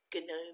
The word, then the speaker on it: gnome: Maybe it was the word gnome. You used to say gnome, but we don't say gnome anymore, but once upon a time they did.